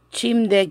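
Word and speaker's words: 침대: Chimde quiere decir cama. Chimde. Cama. Se pronuncia chimde.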